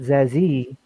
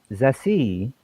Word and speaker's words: Zessie: So I'm like, oh, not Zazie, Zassie, with the oh, like, okay, all right.